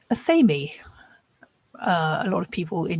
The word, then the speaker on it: athame: So yeah, there are so many different ways to pronounce this word. Like I said, I say athame. A lot of people in the UK say that. Most people in North America seem to say athame or athame. Not sure how the difference in pronunciation came about, but there it is.